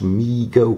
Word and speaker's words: Mego: response to overwhelming demand Migo pronounced me go Corp was started by